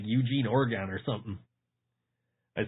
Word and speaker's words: Oregon: I've had the people from Oregon say, no, you can't say Oregon. It's pronounced Oregon. Like Oregon? Like a human organ? Like, yeah, exactly.